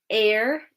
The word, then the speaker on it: heir: Okay, air, H-E-I-R, Alex. Yep, that's silent. The H is silent.